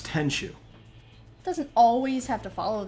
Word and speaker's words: Tenchu: Oh, Tenku Stealth Assassins?